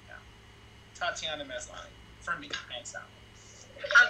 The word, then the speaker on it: Tatiana Maslany: I can't pronounce that name, though. Terrible. Tatiana Maslany.